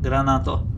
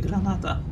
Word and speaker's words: granata: I usually pronounce a grenade as a granato, but it's actually granata.